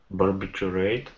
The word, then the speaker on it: barbiturate: Yeah, you want to say like barbitch, almost. A bitch. But you're not calling it a bitch. Dmitry, do you want to try to pronounce it? Barbiturate.